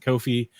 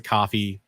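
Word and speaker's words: Ko-fi: some people pronounce it kofi some people pronounce it coffee whatever kofi i have one of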